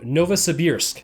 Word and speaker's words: Novosibirsk: Anna so off to the dead city of Novosibirsk and I just pronounced that correctly because I've heard about 40